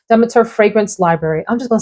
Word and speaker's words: Demeter: This is from Demeter, or Demeter, as some folks pronounce it, Demeter Fragrance Library.